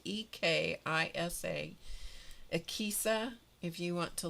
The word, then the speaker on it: Ekisa: And they work in a on the mission field in Ekisa is the name of it, EKISA, and they work with people who have issues, physical issues.